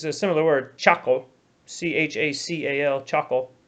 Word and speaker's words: chacal: And in Spanish, it's a similar word, chacal, C-H-A-C-A-L, chacal, right? And it's just las sílabas de chacal.